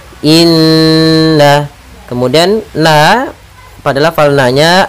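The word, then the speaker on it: إنّا: kita namakan Dengan gunah cara membacanya adalah kita menahan suara nnya dua harakat Inna kemudian na pada lafal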